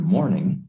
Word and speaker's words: morning: The word morning has two syllables. When a word in English has two or more syllables, we stress one of the syllables more than the others. Morning has stress on the first syllable.